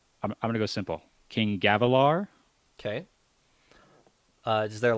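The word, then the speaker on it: Gavilar: whoa back up wait did I say it wrong yep Elliot give him the pron ICI or give them how you would say it again okay gavalar okay so it's just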